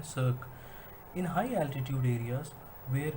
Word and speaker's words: cirque: पहला है हमारा सर्क, CIRQUE, इसकी प्रोनाउंसिएशन है सर्क।